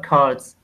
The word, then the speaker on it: curd: Culture, curds. This is... Curd. Curds, yeah, see? Curds. Okay. Curd. Mm-hmm. It's kind of pronounced like this, like K-E-R-D, curd.